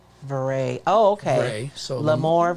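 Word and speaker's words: vrai: So it's pronounced Vray. Vray.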